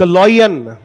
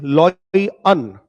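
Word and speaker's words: lion: इसको लयन मत पढ़ा करो बेटा। इट इज लय अनन। लॉय अनन। ठीक है? इसका प्रोनंसिएशन जो है थोड़ा ठीक करके रखना बेटा। इस शब्द का उच्चारण जो है आप बहुत ही गलत करते हो जो कि सही नहीं है। ठीक है? इट इज लयन ना कि लयन।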